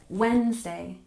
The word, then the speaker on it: Wednesday: have number 20 Wednesday in this word we tend to drop the D and we pronounce it with stress on the first syllable Wednesday Wednesday so let's go